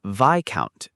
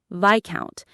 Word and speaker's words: viscount: Number 12 is vicount. V I s o u n t. Viccount. The IPA is vicount in the UK or viscount in the US. The s before the c is silent.